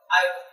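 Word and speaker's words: aorta: क्या कता आयो बाल ये एओ आरटी है इसका बेटा हमारा ये आर साइलेंट रता है इसको कहते हैं आयो क्या कहते इसको आयो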